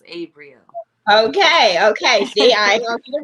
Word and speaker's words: Abrieel: It's just like Gabriel, but it's Abrieel.